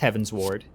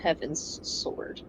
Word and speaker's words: Heavensward: Heaven's wired uh uh it's often pronounced Heaven's Ward but like it is spelled heavensward it's not Heaven's sword yeah I need to